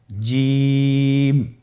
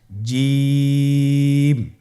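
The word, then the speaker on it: ج: আপনারা আমার সাথে করুন জিম মাশআাল্লাহ আবার বলুন জিম আপনারা চেষ্টা করুন হয়ে যাবে এর মাখরাজ হলো জিহ্বার মধ্যখান তার বরাবর উপরের তালুর সঙ্গে লাগিয়ে উচ্চারিত হয় আপনারা পিকচারে ছবিতে দেখতে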